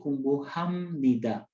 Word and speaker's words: 공부합니다: Bacanya harusnya 공부합니다. B bertemu N itu menjadi suara M, jadi 공부합니다, 공부합니다.